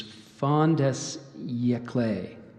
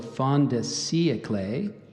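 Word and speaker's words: fin de siècle: to um there's so it gave you the initial one which is Fonda clay there's a there's also Fonda see a clay excuse me Fonda see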